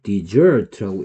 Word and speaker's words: dessert: 얘를 데저트라고 읽었을 때는 무슨 뜻이고, 그 다음에 똑같이 쓰고 얘를 디저트라고 읽었을 때, 그러니까 DESERT라는 단어가 있습니다.